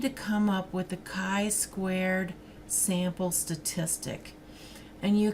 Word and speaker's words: chi: now this is pronounced chi if you've if your student it up at a university this is like the sweetheart of Sigma Chi the fraternity so it's not a chai square it's a chi